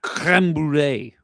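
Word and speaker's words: crème brûlée: I don't believe you're pronouncing that right. I believe syrupy. It's creme brulee.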